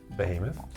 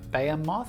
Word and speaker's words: behemoth: Behemoth. Behemoth. I hear people say it beamoth. Oh, really? Even though it's spelled behemoth, but whatever.